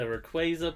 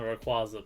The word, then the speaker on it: Rayquaza: I mean, there's the Rayquaza people and the Rayquaza people, so... I mean, I say both, so... It's interchangeable.